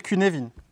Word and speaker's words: Cynefin: Et le regard sur les systèmes, modèle qui s'appelle Cynefin, parce que c'est de l'écossais, qui s'écrit Cynefin.